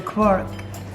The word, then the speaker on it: Quark: in there of the quad how do you say it it's a cork okay so now we're